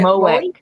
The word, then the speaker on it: MOEK: I've put the uh mothers of exceptional uh kids that is and how do you pronounce the is it Mo?